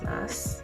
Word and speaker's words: masks: Speaking of face masks, well, actually, how do you pronounce mask in plural form? Masks.